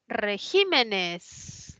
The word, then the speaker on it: regímenes: ya luego está la palabra regímenes no que que tiene la mayor fuerza de voz en la i es esdrújula colocó Ah se puso